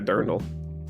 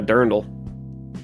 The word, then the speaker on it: Dirndl: Does it look like you're wearing a dirndl? Hmm? It looks like you're just wearing a dirndl.